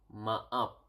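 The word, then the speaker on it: maaf: then you need to say sorry sorry is ma up Ma up Ma up okay sorry is ma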